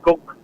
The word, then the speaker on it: Cuc: It's pronounced as Cook. Cook.